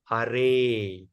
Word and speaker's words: Hare: In the speaking thing is pronounced as Hare. So we should understand Hare that we are pronouncing is actually Hari. But why we call it Hare? Because it's the vocative case.